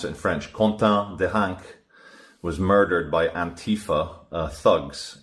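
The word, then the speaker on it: Quentin Deranque: This is after a few days ago in France, a young nationalist called Quentin Deronck, I'll try and pronounce it in French, Quentin Deronck, was murdered by Antifa thugs in France.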